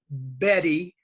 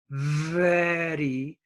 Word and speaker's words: very: the same for example the word very V ery it's not Betty and it's not very it's very now you need to